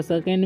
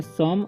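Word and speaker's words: some: है तो इसे पढ़ेंगे सम और ई का उच्चारण कुछ भी नहीं होता है मतलब साइलेंट हो जाता है इसे सो में नहीं पढ़ना है सम पढ़ना है ठीक है मम्स ठीक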